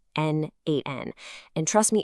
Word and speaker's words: n8n: So what exactly is n8n? First off, it's pronounced N8, and at its core, it's a tool for workflow automation.